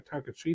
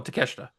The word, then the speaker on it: Takeshita: No, the other guy, Takashita. Oh, Takeshita. That's right.